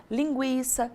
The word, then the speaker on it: linguiça: quem não se lembra o trema são aqueles dois pontinhos que a gente colocava em cima da letra U para indicar que ela deveria ser pronunciada mas ele não existe mais E isso não muda nada na pronúncia das palavras continuamos a falar linguiça 50 Sagui mas na